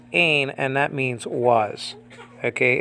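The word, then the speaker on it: ἦν: But the H-looking letter is really an E vowel, like in the word they in biblical Greek. So it's pronounced ain, and that means was.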